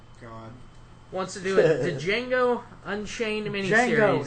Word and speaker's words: Django: wants to do a Django Unchained minies is di is silent okay well Jing Quin